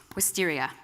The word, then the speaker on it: wisteria: Well, I had lots of words, but in the end, I picked wisteria. What do you like about that word? It's a flower, and it just sounds beautiful. Also, it rhymes with hysteria, and this might sound